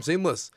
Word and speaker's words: SeamlessR: Hi, I'm Seamless, and this is part one of the making of Steel Core, off of my last EP. The R is silent.